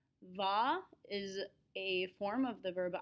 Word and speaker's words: vais: So remember that the letter combination AIS is always pronounced A. This is how we get je vais.